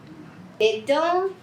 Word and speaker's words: dedans: As letras D, S, T, P no final de uma palavra em francês não são pronunciadas.